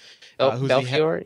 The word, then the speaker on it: Belfiore: Nokia, and Jim Belfiore, is that how you pronounce it? Belfiore?